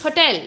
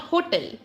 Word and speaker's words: hotel: this is wrong because you need to give stress on the second syllable which is del it's hotel not hotel it's not break fast